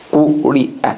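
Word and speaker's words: قُرِئَ: Do you all see the ya on which the hamza is sitting? That was not pronounced, was not spelled, and was not pronounced. Correct? It is only a seat for the hamza.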